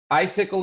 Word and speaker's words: icicle: Icicle is one, right? So the first C sounds like an S. The second C sounds like a K. Icicle.